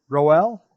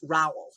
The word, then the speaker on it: Rowell: your last name properly is it roell no it's raul like powell okay see my my